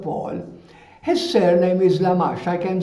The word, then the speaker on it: Lamache: His surname is Lamache. I can spell it for you. L-A-M-A-C-H-E. L-A-M-A-C-H-E, Mash, the final E is mute, we don't pronounce it.